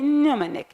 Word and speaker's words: mnemonic: word like mnemonic mnemonic the M it's existed at the first letter in the word so it can't pronounce we say mnemonic not in the omenic now the word sword